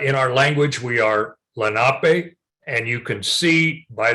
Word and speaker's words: Lenape: the Lenape, Lenape, and that's the way it's pronounced in our language. I know back east, there are many places they pronounce it Lenape, but in the language, the traditional language, we are Lenape.